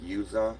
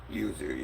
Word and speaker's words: Yuzu: I think Yuza or something. I don't know how you pronounce the name, but for PC, um would